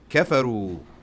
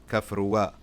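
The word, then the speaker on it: كفروا: Kafaru. They disbelieved. They rejected. Kafaru. And this alif here is to mark that they're plural. You don't pronounce it. You don't say kafruwa.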